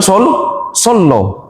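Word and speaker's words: صلى الله: Kalau kita baca sod kemudian lam. Lamnya tasdid, bacanya sallah. Oh, sallallahu ada huruf lo. Sallah. Baru kalau lafdul jalalah baru bunyinya Allah.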